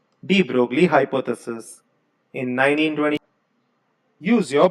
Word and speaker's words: de Broglie: De Broglie's, या आप इस De Broglie बोल सकते, pronounce as De Broglie. Reason being your this guy might be a Netherland का गाय, तो ये ब्रॉगली के जगह पे De Broglie ऐसा भी बोलते हैं.